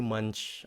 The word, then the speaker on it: munch: Khi các bạn phát âm chữ munch, các bạn nhớ phát âm ch nha, đừng bao giờ quên âm ch đó. Munch. Okay. Nếu các bạn nói munch, người ta không hiểu.